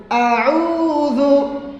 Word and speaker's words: أعوذ: বলে আউযু আউযু আউযু না আউযু আইন দাবাও দাদি আউযু আউযু আউযু আউযু বিল্লাহি